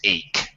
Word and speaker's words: ache: This CH is tricky, Alberto. It's very H. tricky. It's a tricky darn thing because sometimes CH sounds like chocolate, H. chocolate chip. Sometimes CH sounds like SH, like Chicago, chic. However, sometimes, as in this word, it actually has a K sound. This word is ache, a pain.